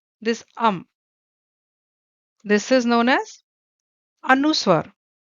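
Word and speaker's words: अनुस्वार: Then this this is known as anuswar. How can you pronounce? Again break it, A-N-U, anu, and swar.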